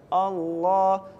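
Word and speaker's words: الله: Iya jadi gitu ya kalau lafaz Allah itu yang tebal dibacanya Allah alallahi kalau yang tipis Walillah bibirnya juga harus ditarik lillahi nah seperti itu itu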